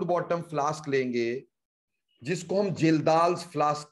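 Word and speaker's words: Kjeldahl: बेटा कि नाइट्रोजन के एस्टिमेशन में हम यूज किया करते हैं जिल्दाल्स मेथड। जिल्दाल्स मेथड बेटा के साइलेंट है, देखने में ऐसा लगता है खज्जल्स मेथड है ना, सच में खज्जल कर देने वाला मेथड है।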